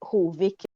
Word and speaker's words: Hovik: So in my head, it's Hovik. That's how my ancestors probably used to say it. Right? So it's like how it sounds in my mind and how I need to pronounce it.